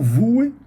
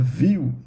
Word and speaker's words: Vue: Também é um Vue.js, né, tem gente que fala Vue, né, se eu não me engano, a pronúncia aí Vue.